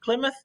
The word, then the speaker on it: Plymouth: it looks like plymouth but it's actually um pronounced plymouth the year was 1620 and then they made